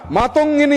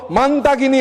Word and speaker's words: মাতঙ্গিনী: জন্য প্রাণ দেওয়া বীরাঙ্গনা মাতঙ্গিনী হাজরার নাম বিকৃতি করে উচ্চারণ শুরু হলো মানতাগিনী হাজরা মানতাগিনী হাজরা এটা কেবল ভুল নয় বাঙালির আবেগে সরাসরি আঘাত